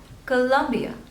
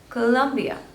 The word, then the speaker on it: Colombia: one is Colombia Colombia so there are three stables and you have to stress on the second one Colombia Colombia Colombia Colombia this one